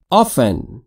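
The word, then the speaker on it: often: گهگاه ا ا ا آفن هم آفن گفته میشه هم آفن هر دو تلفظ درسته هر دو تلفظ هم کاربرد داره آفن افتن بیشتر مواقع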